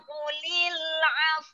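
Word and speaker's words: قُلِ الْعَفْو: Adzaa'una qulil 'afw. Nah, wa ini juga dimatikan huruf wa ini. Didahului huruf fa mati dulu. Jadi cara membacanya mau mengucapkan huruf wa enggak jadi ya.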